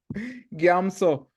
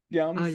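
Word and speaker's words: རྒྱ་མཚོ: How do you say gyatso in colloquial? In certain places? Come on. It was only 14 hours ago. Gyamso. Gyamso. Yeah, games. So Yeah, this M shouldn't be pronounced, but it is.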